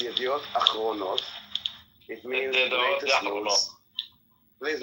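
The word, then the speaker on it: אחרונות: So, first of all, Rabbi, it's Yediot Achronot. It means latest news. Please let me speak. It's not Yachronot, okay? It's Achronot with an Aleph at the beginning.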